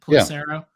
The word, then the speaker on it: Pelissero: It is Tom Pelissero, I think is how you pronounce it. Pelissero.